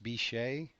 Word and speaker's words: biche: by the French, or using the French word probably pronounced bichet, which means doe. And I think the Americans corrupted that word, and eventually it sounds like and spelled like the swear word.